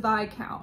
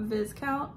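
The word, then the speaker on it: viscount: count who loved me it is pronounced by count right not vizcount i've always said vi count and now i'm trying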